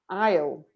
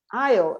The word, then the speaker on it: aisle: Be careful with the pronunciation of this word because the S is silent. Aisle. Aisle.